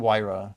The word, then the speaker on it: Vyra: Ghost of Vyra. It's definitely Wyra, but Vyra sounds cooler. It's like the German pronunciation, you know?